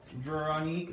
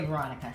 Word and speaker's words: Veronique: Veronique, that's how you say her name. She says you can say Veronica.